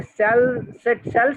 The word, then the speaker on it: सेलेस्टी: हमारे साथ ये सेल सेट नाम है भाई आपका, कैसे प्रोनाउंस करेंगे लड़की आपको? Cell set, सेलेस्टी सर। सेलेस्टी, okay thank you सेलेस्टी।